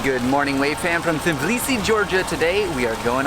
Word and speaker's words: Tbilisi: But the first thing we realized is that it's not actually called Tbilisi. The city is called Tbilisi. But it's spelled with a T, so don't be mad at us. Yeah, it's a silent T.